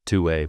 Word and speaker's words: 2wai: The brand is pronounced Two Way, by the way, although phonetically, Two Y is more likely, which makes complete and total sense because why is this happening?